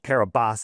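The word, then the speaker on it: Kiribati: No, it's called Kabas is how they pronounce it, but Kurabati.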